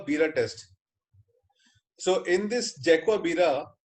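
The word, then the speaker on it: Jarque-Bera: it Jake wa birra test so in this Jaguar birra R is silent and it it is not dark Avira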